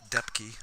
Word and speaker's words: Depke: So it is Depke, or correct pronunciation, I should say.